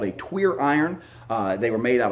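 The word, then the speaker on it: tuyère: It is pronounced tweer, not French or not queer iron.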